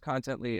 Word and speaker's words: Contently: Is that originally it's pronounced Contently. Everyone said Contently, and that's friendlier, so that's what we went with.